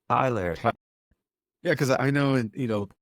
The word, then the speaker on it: Tyler: Is it Tyler or Taylor? Tyler. Yeah, because I know, and some people like their names to be pronounced differently.